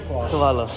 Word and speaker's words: hvala: Is it also vala or khvala? Khvala.